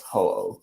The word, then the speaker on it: Ho-Oh: So I was playing Pokemon Gold, and I was able to I've never been able to pronounce that damn Pokemon's name right. It's Ho-Oh? Yes, Ho-Oh.